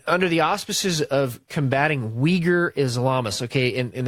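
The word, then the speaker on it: Uyghur: to Syria and under the auspices of combating Weger Islamists okay and it's spelled UI GH u R case if you're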